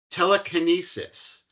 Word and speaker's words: TeleCANesis: He is the CTO and the founder at TeleCANesis.